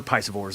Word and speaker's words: piscivore: They're piscivores.